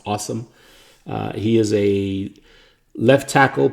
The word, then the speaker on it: Asim: After that, they drafted Awesome Richards, which is pretty cool that his first name is spelled ASIM, but it's pronounced Awesome.